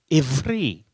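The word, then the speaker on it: עברי: In Hebrew, you pronounce the word Hebrew, ivri.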